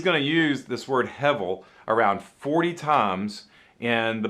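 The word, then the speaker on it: הֶבֶל: and you want to try to pronounce that it's hevel hevel okay hebel means a vapor or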